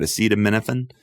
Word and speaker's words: acetaminophen: Acetaminophen?